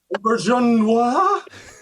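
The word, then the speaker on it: Auberjonois: We had to learn how to pronounce his name. That's so true. Auberginois.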